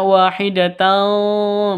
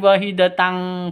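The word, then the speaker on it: وَاحِدَةً: Jadi tidak usah dibaca ditambah dengan gate ya. Jadi bacanya wahidatan bukan di wahidatang falahe ya tapi wahidatan falahan.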